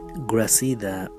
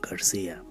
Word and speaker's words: Gracida: Gracida is an unusual last name, so people usually just pronounce it Garcia.